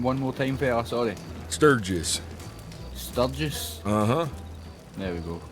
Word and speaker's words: Sturgis: Sturgis. Sturgis? Uh-huh. There we go. I just didn't want to mispronounce it.